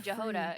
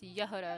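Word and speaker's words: Jahoda: I don't know why I keep saying Jehod. It's Yehuda.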